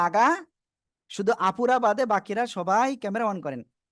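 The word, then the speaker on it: ث: জিহ্বার আগা, শুধু আপুরা বাদে বাকিরা সবাই ক্যামেরা অন করেন। জিহ্বার আগা, এই সামনের উপরে দুই দাঁতের আগায় লাগান, লাগান, লাগান, লাগিয়ে উচ্চারণ করতে হবে। হালকা বাতাস বের হবে।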